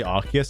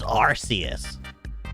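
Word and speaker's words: Arceus: Also speaking of Archus, how does he pronounce sky form? He better say Archus or not Arius.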